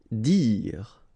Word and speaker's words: dire: Dire. Same thing here, you don't insist on the final okay, dire.